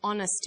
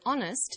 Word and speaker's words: honest: happy man but an honest man the H is not pronounced so honest sounds like it starts with a vow and where the vow